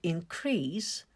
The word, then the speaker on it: increase: is a verb to increase a stress falls on the second syllable another one is a noun in this case the stress falls on the first syllable increase to increase means